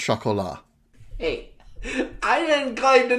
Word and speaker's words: Chocolat: It's pronounced chocolat. Hey, I didn't claim to know anything about French. I was telling you, if there's no vowel after the last consonant, you generally don't pronounce it.